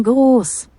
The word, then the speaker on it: groß: Porque S set significa S Z, mas ela tem, não tem som de S Z, tem som de dois SS, tá?